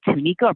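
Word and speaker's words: Tanieka: to have you here how is it it's pronounced please give me the right t like tanika tanika t-a-a-n t-a-n-i-e-k-a tanika is that correct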